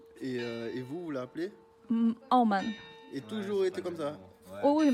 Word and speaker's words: 澳门: How you pronounce in your language? 澳门 Ao Men 不？